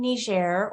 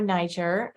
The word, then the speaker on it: Niger: And this is in Niger or Niger, depending on how you prefer to pronounce it.